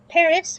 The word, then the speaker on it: Paris: Paris with a silent S.